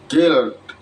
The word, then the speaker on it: gild: Gild, gild, gild, gilding. Kalau ditulis G-I-L-D dibaca gild.